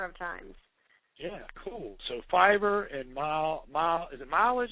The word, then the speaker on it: Fiverr: I don't know if you pronounce it Fiverr or Fever.